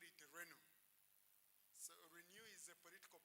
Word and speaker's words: Renu: was there, and we used to call it Renu.